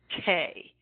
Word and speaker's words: te: halfway between two beats is called Tay pronounced t a y Tay and it's actually spelled when you write it out te is TE for T okay so half half